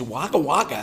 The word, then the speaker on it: Wagga Wagga: australia you know so and it's waka waka if i remember correctly is there a pogo yeah spelt wagga wagga but it's but pronounced wagga wagga you know i learned